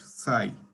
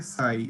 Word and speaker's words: xi: x i x i okay and it is pronounced psi okay psi so multiplied by psi so psi is a